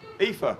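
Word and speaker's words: Aoife: got an Irish producer how do you pronounce that a o i f e EA it is EA thank you very much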